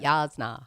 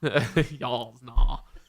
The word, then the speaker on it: Jasnah: I said it right, Jasnah. Jasnah. Yeah, you got to get it back to the back of your mouth.